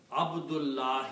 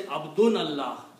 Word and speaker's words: Abdullah: off in there okay Abdullah is the real word when we stop we say Abdullah we don't say abdun Allah to somebody we say his name is Abdullah we don't say abdun Allah is his name why because we